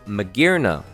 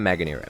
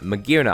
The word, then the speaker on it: Magearna: out to imaginary next magearna not maganera magearna i'm still i'm sure